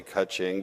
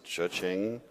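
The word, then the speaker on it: Chuxing: I always want to say Kaching, but I know it's Chuching, the Chinese company.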